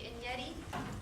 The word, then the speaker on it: Enyedi: My name is Enyedi. Last name rhymes with spaghetti, if that helps.